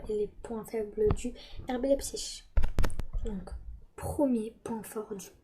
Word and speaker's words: RB Leipzig: Donc ça s'écrit RB Leipzig. Mais ça se dit RB Leipzig.